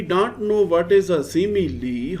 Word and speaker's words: simile: Select the choice that explain the meaning of the SIMILE. This is not smile. This is not smile. This is simile.